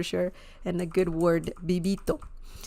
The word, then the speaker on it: vivito: is very similar to the BS in Belle bibito okay but if you have you know if you say vivito it's okay like Spanish speakers will understand that